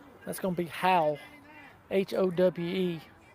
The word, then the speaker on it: Howe: you're from mississippi it turns into howell it's how but if you're from it but if but yeah it's h-o-w-e how how how but if you're from mississippi we turn everything into a couple syllables there howl yeah yeah so uh